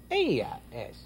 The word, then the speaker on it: ella: Ella es. Ella es. Ella es. Well, that's easy, too. See, you remember that double L? It's pronounced like a Y in it.